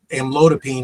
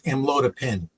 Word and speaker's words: amlodipine: Well, amlodipine is the proper pronunciation according to the pharmacy. And AI was coming in as amlodipine. Oh. So not a huge difference, but enough to make us do it over again and get it right.